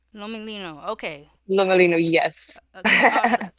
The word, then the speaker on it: Lomelino: I do not want to mispronounce it. Lolino. Lomolino.